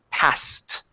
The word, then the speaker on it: passed: something passed away ok it would have to be passed ok with the T sound at the end he passed away ok